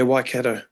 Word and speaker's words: Waikato: Yeah, so you're now playing for I'm going to ruin the pronunciation. Was it Waikato? Waikato? Yeah, Waikato.